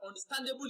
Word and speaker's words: understandable: of the word now understandable is derived from the word understand now understand is a compound verb and the compound verb is always stressed on the second word so stan is receiving the stress and a bull is that suffix ableism should not be stressed so the answer to